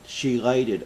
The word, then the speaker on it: chelated: starts you need to get shei chated iron that's spelled c h e l a t e d the chated iron is